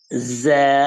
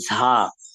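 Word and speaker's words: ز: ঝা sound আরবিকে নাই, ঝা কোনো উচ্চারণ নেই, এটাকে বলতে হবে যা। যা এবং ঝা বিস্তর পার্থক্য আছে, ঝা সাউন্ড হয় না, এটা হবে যা।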